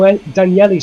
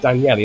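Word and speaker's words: Daniele: uh behind us Daniel danieli sorry Moretti as that's pronounced danielli as opposed to Daniel Daniela Moretti is actually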